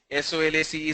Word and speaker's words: solace: National Degree College, the pronunciation is Solace. S-O-L-A-C-E, Solace. Okay, no more questions.